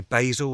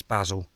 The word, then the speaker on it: basil: So Americans, sort it out, because you say basil as well. No, it's basil. It's basil. It's spelt the same as the name, so it's basil, not basil.